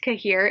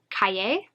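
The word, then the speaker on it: cahier: kahir is not pronounced kahir it's actually french and it's pronounced kaye i think kaye kaye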